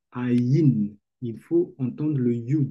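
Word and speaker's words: עין: prononce an et dit ne dit pas an dit ain il faut entendre le you là-bas c'est quoi le code.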